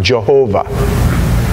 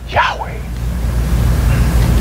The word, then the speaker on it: Yahweh: it was breathed the word Yahweh some people pronounce it Jehovah but that's a that's a um that's a